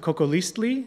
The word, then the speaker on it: Cocoliztli: on this concept of coco leastly today that's the way you would pronounce it in nawat that's the language of the aztecs i studied nawaz